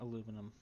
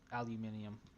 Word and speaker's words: aluminium: Just in case, let's get some aluminum, aluminium, however you want to pronounce it.